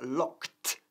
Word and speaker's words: locked: El verbo, por supuesto, es regular, to lock, pero se pronuncia locked y no locked, ¿ok? El ed al final se pronuncia como si fuese una T fuerte.